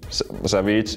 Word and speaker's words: Savjz: Well, I don't really care how it's pronounced, because it's not like a Finnish word or anything like that, so it doesn't actually mean anything. So Savjz is how I would like prefer to have it, but Savjz or whatever goes.